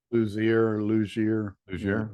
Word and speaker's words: Luzier: Luzier.